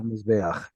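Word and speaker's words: מזבח: Amizbeah? Mizbeach. So here's your Z, and here's your S.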